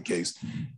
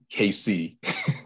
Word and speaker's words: CASE: off your tongue, and to pronounce it KC doesn't do justice. So we shortened it or made it easier to relate to by calling it CASE.